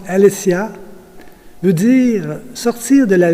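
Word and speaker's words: ἀλήθεια: écrits et en grec le mot vérité se prononce alessia veut dire sortir de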